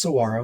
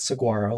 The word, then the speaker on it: Saguaro: But anyway, so it's pronounced Saguaro, not Saguaro, like I thought it was when I first started doing research.